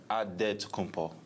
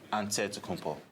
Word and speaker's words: Antetokounmpo: The Nigerian way, you gotta say it with a D, so it's Antetokounmpo. But in the Greek way, you say it with an NT, like Antetokounmpo.